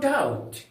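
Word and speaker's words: doubt: में क्या बोलेंगे नो डाउट नो डाउट एन ओ नो डी ओ यू बी टी याद देखिएगा बी यहां पर साइलेंट है तो नो डाउट निसंदेह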